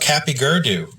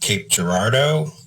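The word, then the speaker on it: Cape Girardeau: are we going through this place it's called Kappy gerdo and dad looked at me and said what and I said Kappy gerdo it's right here on the map yeah it's it's pronounced Cape Gerardo but what don't I know I was like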